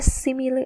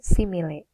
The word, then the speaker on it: simile: Bacanya simile ya, bukan simile.